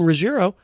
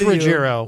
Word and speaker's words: Ruggiero: This is Too Many Times by Diane Roiro. Did I say it right? Rogerro. It is Rogerro. Riierro. What? What did I say? You said Roiro.